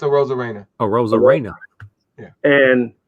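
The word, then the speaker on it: Arozarena: Aroma Reina. Is that how you say it for Tampa? A rose con pollo, but it's a Rosa Reina.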